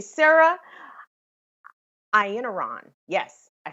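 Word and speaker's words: Iannarone: make sure i say her name correctly sarah i in iran yes i said that right sarah ian iran has been um doing a a pretty interesting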